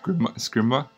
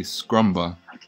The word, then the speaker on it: Scrimba: Let's pronounce it correctly. Oh, it's Scrimba, right? Please. Okay. Yeah. It's embarrassing when you can't pronounce it correctly. I know. I'm not going to pronounce it again. So. Well, I did hear you say Scrumba.